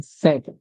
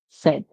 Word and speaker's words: said: so please practice this word all the time said said said you don't practice it you're going to